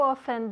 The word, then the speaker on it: often: Y hay gente que se come la T.